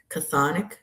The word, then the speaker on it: Chthonic: curated art done by Lennox Reese and also Chthonic Forest. Did I pronounce that right? Chthonic that's right.